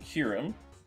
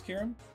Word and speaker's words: Kyurem: Third dragon Pokemon, Kyurem. I think it's Kyurem? I hope it's Kyurem. I always mispronounce it. Yeah, it is.